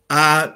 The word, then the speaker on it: Ai: I was on an archaeological dig as a geologist at the biblical Ai. In Hebrew, it's the A is silent, so it's just I.